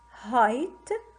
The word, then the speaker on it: height: Long I have a pride, I then final E, kite, I and final E, height, I have I, GH is silent, slight, shy with Y, sly with Y, pies with IE, die, and climb standing alone.